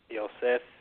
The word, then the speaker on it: Yosef: Because like I said, a lot of times people would think the PH because we come from America, but I made it very easy phonetically. So spell it just like you would hear it, basically.